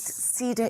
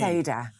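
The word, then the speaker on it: Seder: Except ceda is a tree. Okay. Okay. Seda. Seda. Okay. We don't sit around the cedar cuz then we'd be sitting in the garden around the tree.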